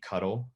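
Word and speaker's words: ctl: 2 new commands that I can show you today are the cuddle command, which it is pronounced that way, and it is how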